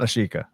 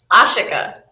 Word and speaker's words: Ashika: And she just told me how to pronounce her name. Is it It's not Ashika. That's the wrong way to say it. Yes. How do you pronounce it? Ashika.